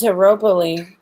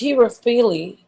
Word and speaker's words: Herophile: And her name is Heropile. That's how you say it? Okay. Heropile. Yeah. Heropile. Oh no, it's Herophile.